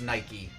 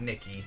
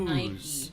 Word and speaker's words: Nike: Several people are informing us that it's pronounced Nike, not Nikki. Ah, like the shoes. Nike.